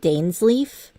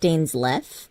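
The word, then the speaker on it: Dainsleif: d SLE that bastard I always pronounced it Dan's Leaf but I think it's supposed to be pronounced Dan left because that's how Pon VA did it oh well that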